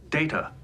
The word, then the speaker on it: Data: Data data my name is pronounced data.